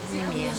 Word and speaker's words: Неме: Неме, правильно говорить.